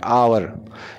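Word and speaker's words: hour: हमारी कहानी इसको हमने ह साइलेंट करके पढ़ रहे हैं अवर इसको सही तरह से प्रोनाउंस ऐसे करते हैं यह हम गलत करते हैं बल्कि अवर है तो इस वजह और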